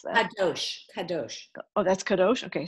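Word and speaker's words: קדוש: Similarly, when we say that the Hebrew word, I can't pronounce that. Kadosh.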